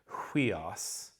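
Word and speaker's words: υἱός: And here's a really interesting word, huios. Okay, it's a nice choice because I've got a diphthong at the front of it, hui. But I've got, do you hear that H?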